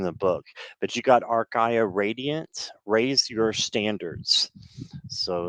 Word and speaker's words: Archaea: And yes, they are Archaea.